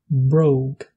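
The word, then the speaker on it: bróg: Le O long est prononcé comme le O anglais, comme dans le mot only. Par exemple, pour dire vache en irlandais, vous pouvez dire bow. Jeune, og. Pour dire chaussure, brogue.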